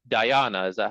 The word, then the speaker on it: dhyana: dhyana. Is that how you pronounce it? Dhyana? Dhyana.